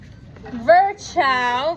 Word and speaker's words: Virchow: Next, Rudolf Virchow, V-I-R-C-H-O-W.